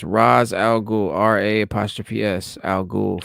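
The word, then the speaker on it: Ra's: And yes, that is Raz and not Raish. The actual Arabic pronunciation is Raz, R-A-Z.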